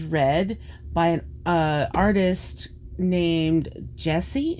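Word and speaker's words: Jehsee: painting the roses red by an artist named jessie it's spelled j-e-h-s-e-e which is quite unique i love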